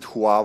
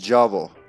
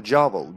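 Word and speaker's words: J'avo: perfect placement perfect so in the game they pronounce it huo or something like that but it's not that's not how I guess they didn't get this the memo it's supposed to be pronounced jao which literally means the devil in Serbian jav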